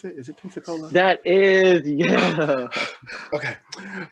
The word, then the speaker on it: Pensacola: Is that how you pronounce it? Is it Pensacola? That is, yeah. Okay. Pensacola, Florida.